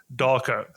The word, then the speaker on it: Darko: right away is it Darko it is it's it's basically how it's written I I tell people that Eastern Europeans don't have any imagination so it's how it's written is how it's pronounced yeah okay okay cool